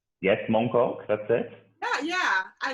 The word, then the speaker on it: Mong Kok: the flower did i say it right yes mong kok that's it yeah yeah i love that flower